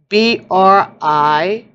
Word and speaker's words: Brisingamen: Brisingmen. Okay, so that's how it's said in Norse. Brisingamen. So it's rising, amen, with a B in the beginning.